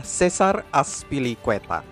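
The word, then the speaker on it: César Azpilicueta: nama yang benar dari pemain Spanyol ini adalah Cesar azpilicueta Cesar azpilicueta tidak terlalu sulit tapi saking seringnya orang mengucap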